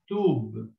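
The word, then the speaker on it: تُبْ: And then you have the letter ba, which got no sign, which means that it is silent. So we read this as tub, which means repent.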